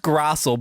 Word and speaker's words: Grassl: It's pronounced Grassl, but you got the first name, and that to me that is the most important thing.